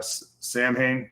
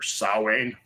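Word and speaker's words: Samhain: listened to a ton of Misfits and uh Sam Hayne or sa that's what all those gothy crazy say right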